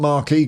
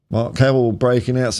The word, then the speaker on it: marque: It's defo Mark and not Marquee. God knows why I checked the old Oxford. Noun pronounced Mark as in top mark.